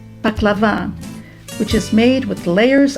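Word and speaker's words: baklava: in your mouth and paklava with the accent on the last a paklava which is made with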